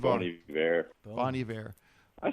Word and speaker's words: Bon Iver: Oh, man, Bon Iver. Bon Iver.